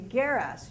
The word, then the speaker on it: geras: The word for old women, well, geras, hard G in Greek, would be geras, G-E-R-A-S, old women.